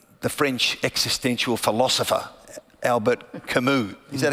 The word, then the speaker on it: Camus: And so, you know, I remember the French existential Philosopher Albert Camus, is that how you pronounce it?